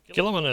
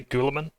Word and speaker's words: Guilliman: Guilliman is one pronunciation. I always say Guilliman.